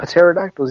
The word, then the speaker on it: pterodactyls: They don't have pterodactyls either. Dang it. That's a good idea. That's a silent P.